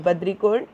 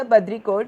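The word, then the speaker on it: Baudricourt: Badricourt is again a French pronunciation.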